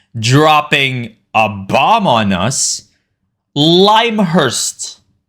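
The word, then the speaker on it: Lymhurst: a bomb on us limehurst is the pronunciation of that green faction so screw everyone who has been calling it limur dude it's called limehurst that's the bigest really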